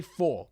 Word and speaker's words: PHAW: to the original, and instead of spelling out PHAW, just say 4, pronounced kinda like 4, might make things easier.